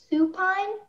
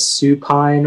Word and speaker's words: supine: Supine? Yeah. Can I have all the information, please? Yeah, so it can be pronounced as supine or supine.